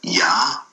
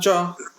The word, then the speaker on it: Ja: Like it's not pronounced Ya? No, Ja.